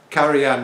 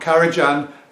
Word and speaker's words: Karajan: that we've all seen caran yeah caran not K Jan caran yep I get your